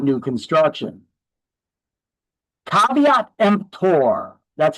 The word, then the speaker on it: caveat emptor: Uh, if it's not new construction, caveat emptor, that's how it's pronounced. It's not KV Kempter.